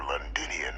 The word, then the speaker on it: Londinion: hadrien were headed for linian of all places linian that's how you pronounce it I presumed you must